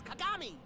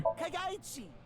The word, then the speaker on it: Kagami: It's Kagami. Sorry, buddy. Kagaichi. Kagani.